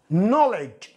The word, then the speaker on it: knowledge: Knowledge، knowledge، knowledge، knowledge. الـ K إذا جاء بعده N، الـ K لا ينطق.